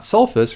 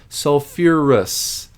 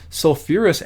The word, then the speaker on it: sulfurous: sulfite so its acid form is not sulfis remember it adds that extra syllable sulfur and phosphorus containing acids to do this sulfurus acid fairly important acid